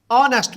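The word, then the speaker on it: honest: ऐसे इसका हम जब जुमला बनाएंगे, अली is dash ऑनेस्ट मैन, तो हमें पता है कि एच यहाँ साइलेंट है, तो ये आवाज़ देगा ऑनेस्ट की।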